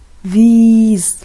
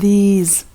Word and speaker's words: these: So one with short E and the other one is with long E. This and these.